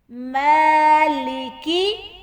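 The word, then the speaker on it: مالك: میم کھڑی زبر ما، میم کے اوپر پھر سے کھڑی زبر آ گیا اور ہم نے اس کو تھوڑا سا لمبا کرنا اور میم کو ما کر کے نہیں پڑھنا. ما.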